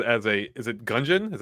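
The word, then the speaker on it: Gungeon: here from syvia says as a is it gungon is that how you pronounce that yeah as a gungon buff this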